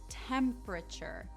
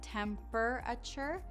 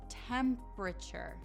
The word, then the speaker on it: temperature: But here in America, we say temperature. So that E and the R are not pronounced separately like temperature. It's temperature.